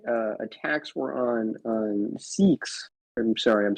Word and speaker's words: Sikh: because the most uh attacks were on on Sikhs I'm sorry I'm saying that wrong I think